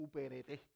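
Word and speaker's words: ὑπηρέτης: Eso era un servidor, un uperete, porque había acento en la E.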